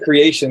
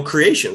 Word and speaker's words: Kreayshawn: remember Kreayshawn creation I think it's supposed to pronounced I've always said creation because the way it's spelled but yeah it